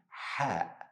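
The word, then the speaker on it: ح: exist in English language it's close to letter H sound but less deep in your throat so you don't say you should say another easy way to practice how to say this letter same sound you make to cool your mouth after eating something spicy when you eat something spicy you will say this is the same sound repeat after me ha ha third letter today and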